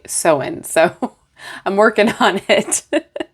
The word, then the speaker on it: Samhain: It took forever for me to stop saying Samhain to actually get my brain to say Soin.